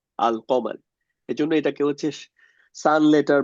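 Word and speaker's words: القمر: আর কমার কমারুন মানে চন্দ্র এটার আগে যদি আল যুক্ত করি তখন হচ্ছে আলিফের লামের উচ্চারণটা রাখি। আল কমার।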